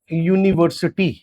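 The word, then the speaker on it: university: ध्यान से देखना मेरी बात के मैंने कहा अ यूनिवर्सिटी तो अब ये यू से शुरू हुआ कि नहीं हुआ बताओ।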